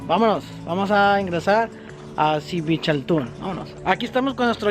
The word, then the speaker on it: Dzibilchaltún: Bueno, vámonos, vamos a ingresar a Xibalchatún. Vámonos. Aquí estamos con nuestro guía. ¿Tu nombre es? Elías. Elías. ¿Cómo se pronuncia este lugar? Xibalchatún. Órale. Significa DZIB, se pronuncia Zip.